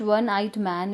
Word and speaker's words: one-eyed: It is, although O is written here, but the sound is of W.